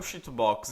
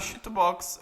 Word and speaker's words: CHITUBOX: Bom, primeira coisa que a gente tem que fazer é baixar o Cheatobox.